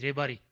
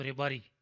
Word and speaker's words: Rebari: It is not Rabari, it is Rebari. Proper word. बोल चाल में बोलते हैं उसको रेबारी, तब मालूम पड़ता है.